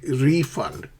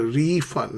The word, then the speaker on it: refund: You say refund. I'd like a refund, not refund. I'd like a refund, please.